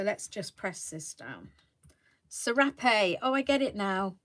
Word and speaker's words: serape: You have to roll your R's. Ooh, that sounds a bit rude. Rrr, serape.